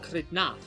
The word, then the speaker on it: Xidnaf: Yasmin Silva says it Xidnaf, and they would be unique enough just because of the way they pronounce the letter X, but they were also the only person to specifically specify that they pronounce it with a stress on the second syllable.